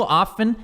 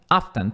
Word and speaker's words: often: Mas no often, você pode pronunciar often. Often pode pronunciar o T.